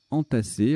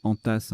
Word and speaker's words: entassé: Alors j'aurais pu prononcer entasse, du verbe enter, qui veut dire E-N-T-E-R, qui veut dire greffer, mais c'est pas la configuration la plus courante c'est pas la prononciation la plus courante de ce mot.